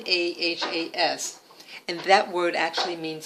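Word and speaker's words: נָחָשׁ: That it's pronounced Nahas, Nahas, and that word actually means snake.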